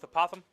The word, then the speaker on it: apothem: at multiple ways so we're gonna go with apothem like you're saying a possum with a lisp okay so oh